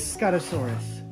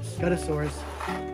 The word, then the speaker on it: Scutosaurus: and uh sticking and styracosaurus now i always pronounce these ring it's scott asaurus okay it's scottosaurus those of you that were annoyed that i